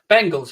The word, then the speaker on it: Bengals: like it's gonna happen it's pronounced more like the bangles with an e bengals yeah sorry i mean